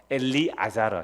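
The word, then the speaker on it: אלעזר: 이게 나사로, 엘리아자르. 히브리 발음은 엘리아자르. 이게 헬라식 발음은 나사로가 되는데요. 이게 엘리아자르.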